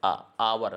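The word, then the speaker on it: hour: ऐसे लिखेंगे हा से जरूर है लेकिन इसका उच्चारण कैसे है अवर है अवर ठीक इंग्लिश में ए और एन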